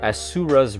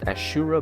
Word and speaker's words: Asura's Wrath: i pronounced this properly asura's wrath asura not ashura but asuras asuras rat um the japanese